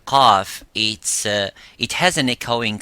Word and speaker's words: qaf: So when we pronounce the qaf, we try to pronounce it audibly and as it is, qa, by opening slightly the lips vertically and making that sound and echoing by saying qa.